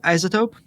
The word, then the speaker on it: iZotope: tool called isotope so it's spelled as i z o whatever I zoto or zedo if you're outside the US do you like right isotope yeah but instead of s you replace it with the Z like isotope